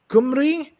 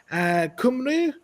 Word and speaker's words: Cymru: Cymru? I mean, it starts with a G there. Cymru? Cymru? Well, that's the way that the Welsh say it.